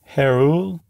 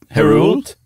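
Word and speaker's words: Héroult: say Paul Herald hero how would you pronounce that Herald Herald I think you might actually say the T in that one I'm not sure h-e-o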